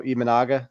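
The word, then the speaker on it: Imanaga: And I know the guy tomorrow Ianaga, that's how you pronounce it.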